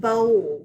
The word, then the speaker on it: bowl: see underline the diagraph it has a long o sound but we don't hear the W so we're going to code